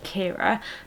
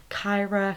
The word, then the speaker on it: Ciara: get their head around pronouncing Ciara as Kira. Throughout school and just in life in general, I've always had like Kyra, Kiara, Clara, Cara, and my least favourite one by far is Sierra, which I just really